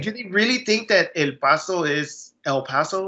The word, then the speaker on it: El Paso: Like, and it doesn't bother me if someone wants to say El Paso or El Paso. But I think if you're bilingual and you have the skills to be able to pronounce it correctly, why not normalize that?